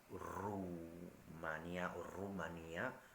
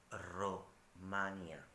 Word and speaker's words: Romania: Entonces, los lingüistas o lingüísticos hablan de Romania, con el acento en la primera A. Atención, no Rumania o Rumanía, no Rumania con la U, sino estoy hablando de Romania, es decir, Europa, donde se habla un idioma romance.